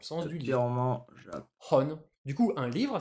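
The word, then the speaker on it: 本: Hon. Du coup, un livre, ça s'écrit comme ça et ça se prononce bah, en sino-japonais, hon.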